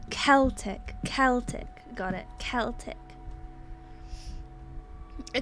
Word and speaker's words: Celtic: Say it like the football. Celtic.